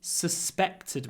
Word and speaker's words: suspected: Nobody suspected me. Suspected. Hold the second s. Suspected. Suspected me. Because the second syllable is stressed. So we need a long s.